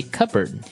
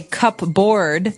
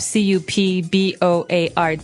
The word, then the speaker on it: cupboard: board because it's cup c-u-p-b-o-a-r-d that's not right the word is pronounced cupboard okay so even though it may seem like you should pronounce cup board the correct pronunciation is cupboard cupboard cupboard and a